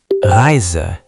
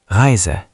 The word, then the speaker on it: Reise: Reise. Good rhythm. For the R, don't do a strong American R. Make it softer and farther back. Heise. Reise.